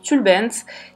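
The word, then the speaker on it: tülbent: qui vient en réalité d'un mot turc qui se prononce tulle bent qui désigne en réalité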